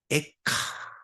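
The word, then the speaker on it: איכה: 에카. 발음이 이래요.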